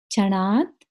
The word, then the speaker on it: क्षणात्: Second line, पापम क्षणात् क्षय मुपैति शरीर भाजाम। फिर से देखिए, पापम म का उच्चारण करेंगे। क्षणात्, क्षणात् में यहाँ पे त आधा आएगा।